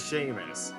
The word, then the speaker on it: Seamus: name is that, my name is Seamus. That is how it's pronounced. That is always how it will be pronounced. I know it seems weird because of the spelling, but trust me, that is how my name is said.